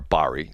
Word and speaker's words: Bari: A, they wanted Barry or Bari. I her name's pronounced two different ways.